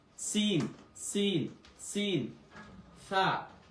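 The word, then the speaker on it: ث: দেখেন এটার উচ্চারণ হচ্ছে সা, জিহ্বার আগা থেকে। সা, সা, একদম পাতলা করে।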